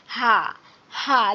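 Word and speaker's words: ه: আর যখন আরেকটা ছোট হা আছে এই হাটা, এই হাটা যখন আমরা পড়বো তখন আমরা গলা ছেড়ে উচ্চারণ করব। এর ছোট হা নামে ছোট হা, কিন্তু এর উচ্চারণটা হচ্ছে গলা ছেড়ে দিয়ে হা হা। যেমন আমরা এমনিতেই হা করি ওভাবে হা।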